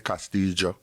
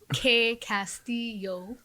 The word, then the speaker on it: Castillo: pronounce things properly but we don't pronounce it in like the castilian spanish which was you know